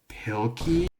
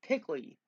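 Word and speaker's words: Pilkey: It's Pilky. Yeah, Pilky. Yeah, his last name is Pilky. I I was like, wait, what? You're pronouncing his last name wrong. It's not Pickley.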